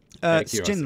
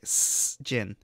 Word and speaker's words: Sjin: It's like you got to say it like a snake, like Sjin. It's like a snake having gin. Sjin. I'm not saying it like that. I'm going to say Sjin, like at the bottom of my foot.